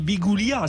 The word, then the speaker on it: Biguglia: à Biguglia Biguglia pardon on prononce pas glia on dit Biguglia c'est ça à Hervé